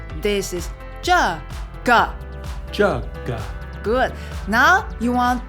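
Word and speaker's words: 这个: It sounds like jaw kind of.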